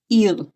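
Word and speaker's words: עיר: Our next word is ir. Ir in Hebrew is city. And ir really sounds like ear. I'm just changing my accent from ir to ear.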